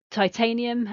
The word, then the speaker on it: titanium: Then we've got titanium and magnesium, so ti, tain, e, mag, knees, e, both of those have 4 syllables.